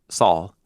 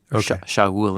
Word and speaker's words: Saul: So God raises up, and then the people choose a guy named the one who was asked for, which is pronounced Saul, Shaul in Hebrew, the guy that was asked for.